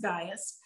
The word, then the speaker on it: Gaius: i am writing to gaius it looks like gaius but it's actually pronounced gaius my dear friend whom i love in the